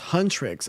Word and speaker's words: Huntrix: It's pronounced Huntrix.